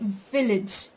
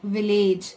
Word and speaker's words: village: But actually, guys, the stress should be given on V. It should be village. Village and not village.